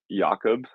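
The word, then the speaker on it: Jakub: the inside team that the proper pronunciation is yakob so yakob Mantic all right wow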